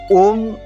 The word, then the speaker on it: ओम्: दूसरा दूसरी चीज है इसीलिए ओम को हमेशा ओम ही बोलना चाहिए अभी मैंने अत्यंत प्रामाणिक